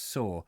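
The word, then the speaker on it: Soar: not an easy Oh River saw pronounced saw Thank You Adrienne that's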